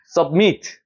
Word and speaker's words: submit: 자, 여기 같은 경우도 강세가 여기 있어요. 여기에 강세가 있는 게 아니고. 그러니까 어떻게 읽어야 될까요? 혹시 submit 뒤에가 세지는 거예요. 앞에는 그냥 submit이 아니고 submit 위에가 올라가는 발음.